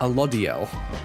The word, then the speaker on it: Alodiel: Alodiel is the pronunciation.